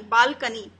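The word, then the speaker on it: balcony: Third है BAL, बाल, और CONY, कोनी नहीं बोलेंगे, इसे बोलेंगे कनी, बालकनी।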